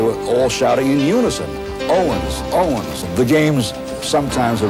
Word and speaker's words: Owens: crowd of 120,000 shouting, "Oh, Vans, all Vans, all Vans." The W in German pronounces a V. And they were all shouting in unison, "Owens!